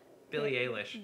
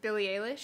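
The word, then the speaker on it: Eilish: recommendation would be um Billy how do you pronounce it P Billy Alish Billy Alish we've talked about her on the show SP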